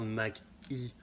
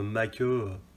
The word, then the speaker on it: Mach-E: Alors franchement, la Ford, le SUV Mustang, là, vaut mieux parler de la Ford Mach-E et prononcer le E à l'anglaise. Parce que sinon, Mach-E, c'est pas top, quoi.